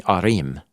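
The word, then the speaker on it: עָרִים: Yeah, of many arim, is how you say it in plural.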